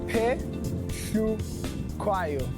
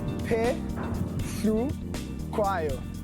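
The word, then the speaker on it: Phehlukwayo: Many people get my surname wrong, so I'm going to give you a little masterclass on how to pronounce it. Petlakwayo. I repeat it again. Petlakwayo.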